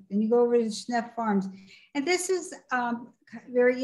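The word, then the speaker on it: Schnepf: Is that how you pronounce it, Schneff? Schneff Farms, yep.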